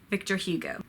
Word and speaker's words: Victor Hugo: Madame Bovary Victor can go Victor e go Victor Hugo who of course wrote lemme Sahab lay me